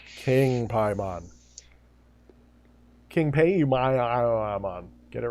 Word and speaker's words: Paimon: I mean, we can't even agree on the correct pronunciation of Paimon. True, yeah. Don't get that fight started. And it's King Paimon. King Paimon.